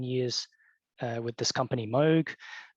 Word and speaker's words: Moog: just point out that in English the company name is pronounced Moog in Japan it's smug